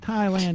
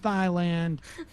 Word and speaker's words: Thailand: some basic understandings of reality like Thailand is pronounced Thailand, not Thailand.